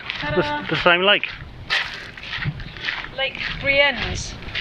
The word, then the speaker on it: Brienz: Lake Brienz. It's Brienz.